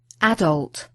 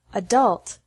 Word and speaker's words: adult: first is worse stress some words particularly those of French origin are emphasized differently in American English with the last syllable stress in American English and the first syllable stress in British English particularly